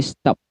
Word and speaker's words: stopped: Tulisannya stopped, tetapi cara bacanya ed-nya dibaca t, jadi stopped, seperti itu.